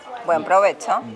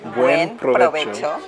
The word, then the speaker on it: buen provecho: Buen provecho. Buen. Those syllables. Buen provecho. Provecho. Provecho. No berberecho. Provecho. Buen provecho.